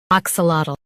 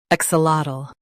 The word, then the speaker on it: axolotl: Stress ak and say lat clearly. The ul is soft. AXOLOTL. AXOLOTL.